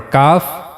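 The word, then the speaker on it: ك: And then for calf we have to use the hard pallet. The hard part of the pallet and roof of the mouth in the area of hard pallet.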